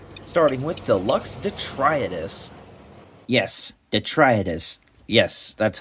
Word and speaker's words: Detritus: Yes, Detritus. Yes, that's how you say their name. And yes, I have been pronouncing it wrong in that entire review.